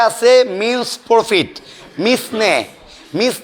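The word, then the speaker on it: mesne: দুই 12 তে আছে মিনস প্রফিট মিসনে মিস নি প্রফিট কিন্তু উচ্চারণ হবে মিন্স বানানো হবে মিস নি এম ই এস এন E miss নি মিস নি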